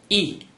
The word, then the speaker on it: 亿: Yi is the 4th tone. Please pronounce it after me.